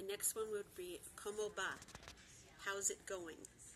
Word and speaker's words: va: The next one would be, ¿Cómo va?, how's it going? And the V in Spanish is always pronounced with a B. So it's ¿Cómo va?, how's it going?